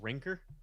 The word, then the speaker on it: Rancor: It would be really cool to get a bumper sticker that says "My other ride is a Rancor." That would Or be you pretty could pronounce it Ranker.